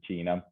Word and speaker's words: Ticino: Right now, I'm currently in Switzerland, and you did pronounce it correctly. It is Ticino.